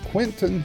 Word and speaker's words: Quinten: The theme song is Roll the Dice and is recorded and used by permission from Quentin Hope. Quentin is spelled Quinten, and Hope is Hope.